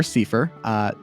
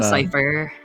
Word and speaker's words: Seifer: This game doesn't have I go Cypher. I go Cypher. I just say it because his name is spelled exactly like mine, but with an S instead of a K. So I feel like either works.